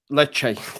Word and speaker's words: Lecce: Lecce. There you go.